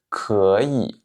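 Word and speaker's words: 可以: C'est que quand vous avez deux fois le troisième ton enchaîné, c'est-à-dire que vous avez deux troisièmes tons qui se suivent, le premier est prononcé comme si c'était un deuxième ton.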